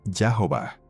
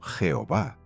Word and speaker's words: Jehová: vieron las consonantes y HBH con las vocales a oa intercaladas y las combinaron literalmente Yahová, que con la pronunciación latina del Wimbe como consonante labial y la ortografía castellana temprana produjo Jehová.